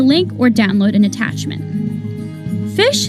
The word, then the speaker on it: phishing: or download an attachment fish is pronounced just like it's spelled which is to say like the word fish the analogy is of